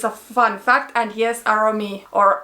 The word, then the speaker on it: Aromi: is that the name aromi comes from the finnish word for fragrance so you probably can